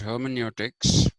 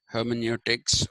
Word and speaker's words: hermeneutics: other day I was talking to you about hermeneutics and uh h e r m n u t i CS hermeneutics which I told you is a Greek word